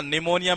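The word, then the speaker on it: pneumonia: ये Mrs belt के अंदर कई बार पूछा गया है, क्योंकि इसमें ये साइलेंट रहता है, ये पी साइलेंट रहता है, ये निमोनिया।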